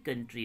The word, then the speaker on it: coup: पाकिस्तान में जनरल परवेज मुशर्रफ जो है इन्होंने military कूप, COUP, that means military कू, इसको जो प्रोनाउंसिएशन जो करते COUP को, इसको प्रोनाउंसिएशन जो करते कू करते हैं, ठीक है।